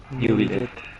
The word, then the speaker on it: Neuvillette: ¿Cómo se pronuncia, amigo? ¿Neuvillette? ¿Neuvillette? ¿Cómo mierda es? Neuvillette. ¿Neuvillette? Neuvillette. Sí, Neuvillette. Así que Neuvillette.